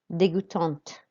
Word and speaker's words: dégoûtante: Dégoûtante. So we really hear that T now.